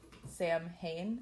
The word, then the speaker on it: Samhain: stem from sin right it's not spelled like that it's spelled Sam ha it's like s m h i a an wow that